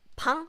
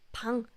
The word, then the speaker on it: 방: If it's used at the bottom of the letter, like 방, it's b, 방, then it has ng sound.